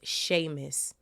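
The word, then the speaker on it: Seamus: finnean oh I think y'all told me it's pronounced Sheamus it's an Irish name even though it's literally spelled seis like the c s EA m u s but sir said Sheamus finnean if the chamber can only be opened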